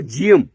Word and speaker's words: Geum: जीएम से थोड़ा सा बोलने में जीएम, इसका स्पेलिंग जो है थोड़ा सा GEUM है, तो ऐसे आपको याद रहेगा।